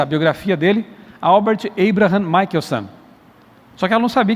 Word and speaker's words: Michelson: o meu nome é um sobrenome né é michaelson filho de Michael Mas tá tudo certo porque